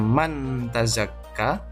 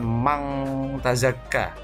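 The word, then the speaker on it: من تزكى: surah al-a'la ayat 14 tulisannya mantazakka membacanya Man bhazack ke bukan Mang Tazakka tapi menyamarkan bunyi nun sukun dengan tak berarti diantara Mahfud nyanun dan tak Man mantazakka bukan mangga Zaka Hai kemudian di surah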